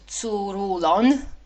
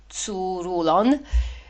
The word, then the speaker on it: Tzouroulon: In one place in Thrace in a stronghold called Tzouroulon, I hope I say it right. It's T D Z U R U L O N. Tzouroulon.